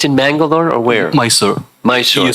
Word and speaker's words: Mysore: Mysore.